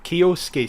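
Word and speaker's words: Kyosuke: Kioske. So the Suke in Japanese is pronounced ske. Like Shunsuke Nakamura. Yeah.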